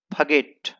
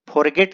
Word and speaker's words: forgot: और दोस्तों इसका सही प्रोनाउंसिएशन है फगेट। इसे फगेट पढ़ा जाता है और इसे फगॉट पढ़ेंगे, फॉरगेट नहीं पढ़ते हैं।